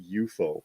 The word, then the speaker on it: UFO: take those periods out it's eupo oh it's not Jerry Anderson pronounced it eupo on the show it was not UFO it was two of